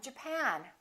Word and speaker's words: Japan: at the next one did you say Japan or Japan in this case it's the second syllable I'm from Japan I'm from Japan let's